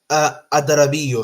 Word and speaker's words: Adarabioyo: Adarabioyo.